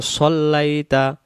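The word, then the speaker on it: صَلَّيْتَ: তারপরে কামা সল্লাইতা, কামা সল্লাইতা, আমরা এটাকে বলি কামা সাল্লাইতা, তখন সদটা সা হয়ে যাবে।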